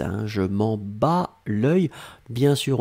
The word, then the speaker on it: bats: S, hein, je m'en bats l'œil. Bien sûr, on ne prononce pas le T, bien sûr, on ne prononce pas le S, mais ça doit être là si on veut écrire correctement.